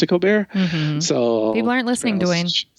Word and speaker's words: Colbert: coar people for some reason always choose to pronounce mine Cobert though I pronounce it coar so people aren't listening DNE like St like